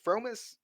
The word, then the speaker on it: fromis: Promise? Fromis. Fromis. Fromis. Dude, read How do you Like say it, Yoli. bro? Fromis. It's from Promise. Fromis. It's like promise, but Fromis.